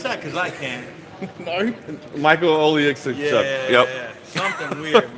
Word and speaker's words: Oleksiejczuk: Can you pronounce that? Because I can't. Michael Oleksiejczuk.